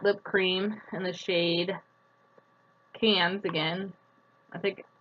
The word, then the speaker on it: Cannes: Lip Liner in the shade, I may be pronouncing this wrong, but it looks like Cannes.